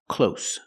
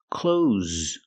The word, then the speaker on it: clothes: is an uncountable noun the word is not pronounced close close it's pronounced close close use the z sound with a voice like Zebra z clo these are cloth